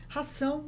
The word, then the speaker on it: ração: Ração de gato. Ração de gato. So ração is like the word ration.